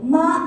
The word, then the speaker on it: 妈: because Chinese is hard in Chinese we have four different inations ma ma ma ma so ma is Mother Ma is numbing ma is horse ma is swearing so if